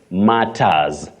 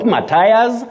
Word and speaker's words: matters: say you're welcome but this word you say matters matters just like Ugandan matters not Matas and not m then you